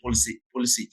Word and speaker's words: Pulisic: I want to go see Pulisic. I don't know how to pronounce the name. Yeah, no, Playing. you're saying it right.